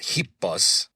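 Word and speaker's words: ἵππος: But just know that hipbas which would be transliterated h i p o s that's how you say horse in Greek.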